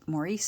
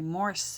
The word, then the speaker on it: Maurice: of his books and I had always pronounced it Maurice sandak but apparently uh he uh he went by moris syoc at least that's what uh in my research that I did I found out anyhow I just I